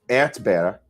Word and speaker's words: Erdbeere: Erdbeere.